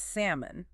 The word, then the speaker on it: salmon: That L is totally silent. No sound at all. None. It's not salmon. It's salmon. Stress on the first syllable. Sam. And that O is reduced. Kind of like an H sound again. Simoon. Samoon. Okay.